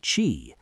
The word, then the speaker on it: qi: Pronounced qi, qi is the vital life